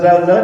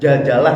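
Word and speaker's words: زلزلة: Makanya kalau ada surat Zalzalah surah Zalzalah dibacanya apa? Surah Jaljzalah katanya.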